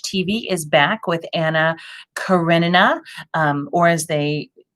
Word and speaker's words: Karenina: is back with anna karenina um or as they i always say it anna carranina because there used to be this this play that took place in cuba and that's how they pronounced it anyway um we have